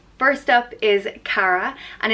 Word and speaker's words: Cara: started with the girl names first up is Cara and it's pronounced exactly as a spelled cara cara and